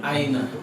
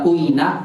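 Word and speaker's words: أين: Aina. Bagus, dibaca aina. Kok dibacanya aina nggak usah nggak uina atau in, emang begitu kalimatnya karena artinya di mana?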